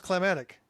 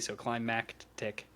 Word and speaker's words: climactic: Is it climactic? I thought it was climatic. Climactic. It's spelled Climactic, so climactic.